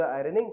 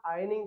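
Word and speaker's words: ironing: जैसे डू द आयरनिंग, कपड़ों पे इस्त्री करना। इसे आप आयरनिंग की जगह आयनिंग कहेंगे तो और भी अच्छा रहेगा, क्योंकि यहाँ पे हमारा क्या होता है? आर साइलेंट होता है, तो हम क्या बोलेंगे इसे?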